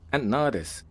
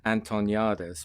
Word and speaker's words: Antoniades: He skips the T altogether. But the way you pronounce it, they miss a lot of letters in the English language. It's not their fault. The way you actually pronounce it is Antoniades.